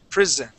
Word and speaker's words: prison: that that s class that s in this word will sound like a z pris prison instead of saying prison